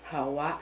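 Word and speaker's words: هواء: And if you are Arab, you speak Arabic, you will know that it's pronounced as hawa.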